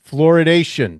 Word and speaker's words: fluoridation: convincing evidence of adverse effects from community water fluoridation.